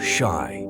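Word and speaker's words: し: of the number four Shai is is similar to the word for death in Japanese so anything associated with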